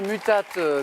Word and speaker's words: mutate: Et c'est drôle parce que du coup, j'ai prononcé mutate comme si c'était du latin, mutate, alors que vous avez compris à l'instant que c'était en anglais, mutate.